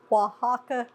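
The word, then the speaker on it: Oaxaca: use those also but it's definitely pronounced way different than what it says right I'm going to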